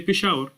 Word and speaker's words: Peshawar: methods of recitation peshawar the city of peshawar if you use the the western sheen pronunciation of the same letter they will say peshawar but if you use the eastern scene pronunciation it will be same letter written the same way just different ways of pronouncing same letter pronounced differently this does not change